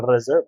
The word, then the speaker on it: Reserva: You didn't roll your R's. Fundo. Reserva. Reserva. So we got these a month early.